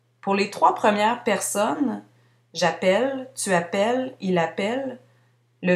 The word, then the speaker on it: j'appelle: Cette particularité s'explique par le fait que pour les premières personnes, on ne prononce pas le E final, j'appelle.